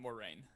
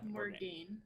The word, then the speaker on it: Morgaine: No, not more rain. Not Moraine. No. My NPC. Yeah. Morgaine. Yeah, Morgaine.